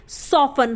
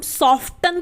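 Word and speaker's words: soften: से सॉफ्टन सॉफ्टन तो यहां पर भी लास्ट में टी आई एन ए रहा है इसलिए यहां पर जो टी है वो क्या है साइलेंट है हम क्या बोलते हैं सोवन हम सॉफ्ट तन तो नहीं बोलते ना तो ये टी क्या है यहां पर साइलेंट है यानी की वो नहीं बोला जाएगा अब देख लेते हैं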